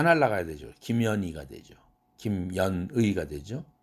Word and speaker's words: 김현희: 김현희라는 이름이 있는데 아주 발음하기에 좋지 않은 그런 이름이죠. H 다 날라가야 되죠. 김연희가 되죠.